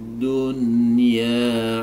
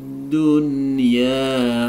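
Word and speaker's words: دُنْيَا: Tapi karena ini nun sukun dan ya-nya itu berada dalam satu kata, maka ini masuk dalam kaidah idhar wajib. Jadi cara membacanya harus dijelaskan, tidak boleh didengungkan.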